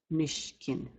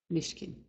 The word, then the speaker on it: nishkin: The next word is pronounced nishkin. Nishkin. Nishkin. Both the I's are short sounds.